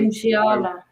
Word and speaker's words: Musiala: Musiala.